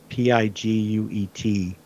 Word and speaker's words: Piguet: Uh Beats by Dre, but then she did, you know, Gucci, um I I never say it right. It's Piguet.